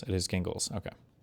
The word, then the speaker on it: Gingles: Gingles. It is gingles.